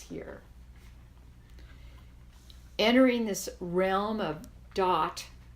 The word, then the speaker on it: Daath: shall be passes here entering this realm of dot it's called that is the Hebrew name which means knowledge DAA th dot it's pronounced entering this realm of das sphere 11 dot we learned about death birth